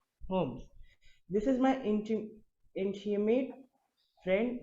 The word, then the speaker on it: Holmes: Holmes. L is silent. Holmes.